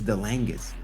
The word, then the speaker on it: Dangis: You're probably the first person that said it right, Sher. Exactly how you say my name. It is it is Dangis.